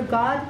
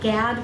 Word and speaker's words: Gad: the S of and it's pronounced in Hebrew God but it doesn't mean God as we say in English so I'll go with Gad for you all who